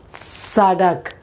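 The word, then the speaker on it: सड़क: But in Hindi we say sadak. Sadak, that is on top, the teeth where it touches.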